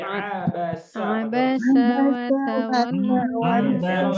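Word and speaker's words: عبس: Tidak boleh pakai abasya, tapi abasa.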